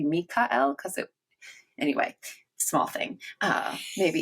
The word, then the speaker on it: Michael: It wouldn't have been Michael. It would have been Michael. And they don't have the ch either. But Mm-hmm. even like an Americanized version, it should be Mikael, because anyway, small thing, maybe even fluff.